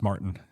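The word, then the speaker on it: Maurten: yeahuh the company that makes the supplement is Martin so um that's spelled m a u r t n yeah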